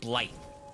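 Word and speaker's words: Blaidd: like you get to play as blade ble not blade as in Marvel Blade but or they pronounce it blight whatever the wolf's name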